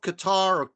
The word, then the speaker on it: Qatar: And the people of Qatar, or Qatar, I guess is how you pronounce it.